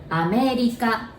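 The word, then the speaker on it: アメリカ: my neighbor country so we say america again or becomes l sound right america and new york my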